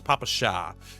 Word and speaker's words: Papasha: And I say it like that because it reminds me of that song Papaya by Baby Metal. You know, that one goes ba ba ba ba ba papaya, papaya. But it's papasha.